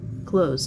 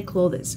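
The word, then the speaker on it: clothes: одежды чем disclose заметьте слова клаус произносится именно так клаус не кловис клаус клаус как слова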